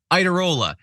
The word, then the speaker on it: Iadarola: It's John Iadarola. Do you think anyone pronounced it that way back in Italy?